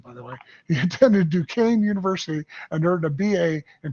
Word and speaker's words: Duquesne: I had to look up how to pronounce that, by the way. He attended Duquesne University and earned a BA in political science.